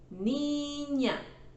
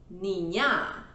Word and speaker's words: niña: Niña, dos sílabas. Hermano, tres sílabas. Y televisión, cuatro sílabas. The strong syllable is marked in red. This is sílaba tónica. We don't say niña, we say niña.